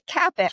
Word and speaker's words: CAPIC: See, CAPIC. CAPIC Cats. Just like it looks.